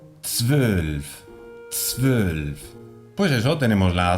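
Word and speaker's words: zwölf: Además, es interesante que no pongamos una E delante. Como hispanohablantes, tenemos mucha tendencia a ponerle una vocal delante de un comienzo muy consonántico, porque no estamos acostumbrados a pronunciar una T, una S y una V seguidas al comienzo de la palabra. Por tanto, es muy típico poner una E. E12. Nein. Queda muy feo, sucio.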